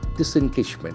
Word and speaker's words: disengagement: The accent falls on the third syllable, disengagement.